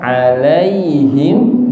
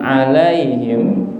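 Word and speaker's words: عليهم: e atau ke e Padahal dia kasrah i alaiim bukan alaihim Nah kenapa bisa jadi alaihim karena dia kurang sempurna harakatnya yang seharusnya i jadi e maka harus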